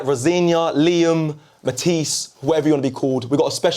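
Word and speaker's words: Rosenior: It's not Ros. It's Rosena. All right. Rosena, Liam, Matise, whatever you want to be called.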